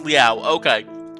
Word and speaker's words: Liao: Is the O silent or not? It is Liao.